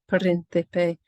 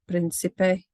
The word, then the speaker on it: príncipe: of chocolate is pronounced príncipe. You've got that th sound. I was pronouncing it according to Castilian Spanish, but if you were teaching South American Spanish, it would obviously be príncipe, and so on.